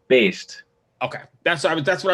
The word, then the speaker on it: Baest: tell you i'm really bad at uh it's pronounced based okay that's that's what i was going to